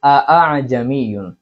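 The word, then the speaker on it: ءَأَعْجَمِيٌّ: অর্থাৎ প্রথম হামজাকে তাকিদের সহিত উচ্চারণ করা, প্রথম হামজাকে শক্তভাবে উচ্চারণ করা, পরবর্তী যে হামজাটা আছে এই হামজাকে আলিফ এবং হামজার দরমিয়ান অবস্থায় মাঝামাঝি অবস্থায় উচ্চারণ করা।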